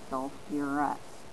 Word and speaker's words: sulfurous: Sulfurous. Notice that the middle syllable, the UR, has been added back.